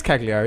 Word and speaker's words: Cagliari: Cagney and Lacey, It is Cagliari, isn't it? Yes, it is. Yes. You pronounced it perfectly, better than I could.